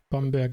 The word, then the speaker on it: Bamberg: Yes, Bamberg and Nuremberg.